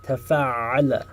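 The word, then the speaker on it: تَفَعَّلَ: So there's a ta in the front, and then we have a shadda on top of the ayn. Tafa'ala, tafa'ala.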